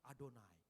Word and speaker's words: Adonai: biasa ini bingung bingung orang Ibrani langsung tahu ketemu yhwh langsung adonai karena mereka enggak tahu